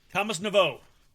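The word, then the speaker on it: Thomas Nepveu: Thomas Navo. Navo. Forgot the P is silent.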